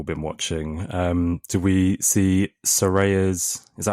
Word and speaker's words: Saraya: Do we see Soraya's? Is that how you say it? Soraya? Did we see her return? Saraya. The big Soraya. Soraya return that everyone was debating how you pronounce her name last week.